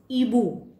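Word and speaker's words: hibou: Example है ईबू। ईबू मतलब आउ। फ्रेंच में एच साइलेंट रहता है, आश साइलेंट रहता है, इसलिए इसको बुलाया गया है ईबू।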